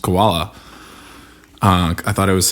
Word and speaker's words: Caiola: sure in my dumb brain if it was pronounced koala uh i thought it was some cool spelling